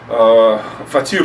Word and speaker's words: фатир: Фатир называется, а не фат, фатир, они так называли. Я, значит, неправильно ударение ставил, фатир они говорят.